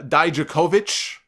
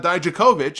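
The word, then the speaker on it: Dijakovic: on television last week they were pronouncing it as uh da jakovich Mora ralo called them out for it and said no no it's not da jakovic it's da jakovic they actually gave him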